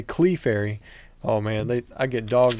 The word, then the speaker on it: Clefairy: a lot of the comments are in there making fun of me, saying instead of saying Clefairy, I say Clefairy.